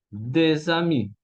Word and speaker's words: des amis: Ahora, si el artículo de y ami están juntos en una oración, voy a tener que decir des amis, ¿ok?